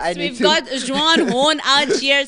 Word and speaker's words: Juan: John. No, Juan. is it J-A-U-N? No, Juan. Juan.